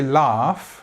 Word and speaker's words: laugh: The same, let's just note that the laughed in England has this GH, which is silent or produces the f sound in the word laugh. Also, just about pronunciation, I might say laugh with this R sound,